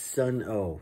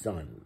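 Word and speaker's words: Sunn O))): know okay that's that's sun oh sun not oh you don't pronounce the o it's just sun okay you guys know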